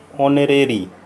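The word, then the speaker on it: honorary: क्योंकि यहाँ एच जो है वो साइलेंट है। ऑनरेरी। ओके, तो आज के लिए इतना ही।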